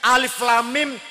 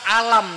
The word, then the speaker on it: Alif Lam Mim: ora ono ilmu tajwid Alif Lam Mim dibaca alam itu tapi kata ilmu